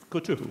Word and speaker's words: Qotuf: Tuba Terekji of, how do you pronounce it, Qotuf? Qotuf, yes. Riyadah development company.